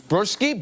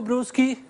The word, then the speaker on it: Bruschi: There is Burski. Yes, I am. Burski, hi. From Italy. From Italy. Florence. Thank you, guys. How do you say your last name correctly? My name is Bruschi, B-R-U-S-C-H-I.